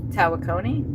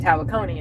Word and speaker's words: Tawakoni: Tawakone. That's how you say it. Tawakoni is how you say it.